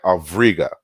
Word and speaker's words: Auriga: And so it says Auriga, but you pronounce it with a V. So it's like Avriga.